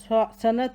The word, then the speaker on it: صنعت: یا، رے ساکن، معیار۔ صنعت ہے، صاد کے اوپر زبر ہے، نون ساکن ہے، عین کے اوپر زبر ہے، تے ساکن ہے۔ صاد زبر سا، صاد زبر نون سن، عین زبر تے ات، صنعت۔ مثال، میم کے نیچے